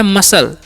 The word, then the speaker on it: muscle: MUSCLE, तो इसे हम लोग पढ़ते हैं मसल। क्या पढ़ते हैं जी? मसल पढ़ते हैं। यहाँ पर भी सी साइलेंट है।